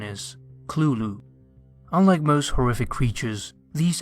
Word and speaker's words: Cthulhu: coin this term himself this word is supposed to be a completely non-human word and there's no correct way to pronounce it however lovecraft wrote that the closest pronunciation is clulu unlike most horrific creatures